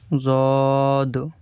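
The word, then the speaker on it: ض: এই স্টারের মতো যে চিহ্নটা, এই স্টারের মতো চিহ্নটা যে অক্ষরের উপরে দেওয়া রয়েছে, সেই অক্ষরগুলি গোল হয়ে, মুখটা গোল হয়ে বা মোটা হয়ে উচ্চারণ হবে। সদ, জদ।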